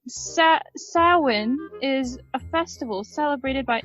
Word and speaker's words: Samhain: It's pronounced Samhain. Right, Samhain is a festival celebrated by ancient Britain and Ireland.